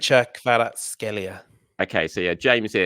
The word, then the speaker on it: Kvaratskhelia: Kvicha Kvaratskhelia.